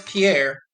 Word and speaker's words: Pierre: The name of this South Dakota state capital isn't pronounced like a French name, but like a synonym for dock. Player one. What is Pierre?